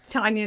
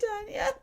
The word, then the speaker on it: Tanya: Her name is Tanya, by the way. It's spelled like Tanya Tucker. Thanks for buying our merch, Tanya. We love you. Tanya, not Tanya.